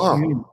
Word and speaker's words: Hulme: So my one's L is silent, so it's actually Hume.